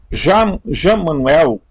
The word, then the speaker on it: Emanuel: Por por que será hum Manuel é a pronúncia de Emanuel a as igrejas estabelecidas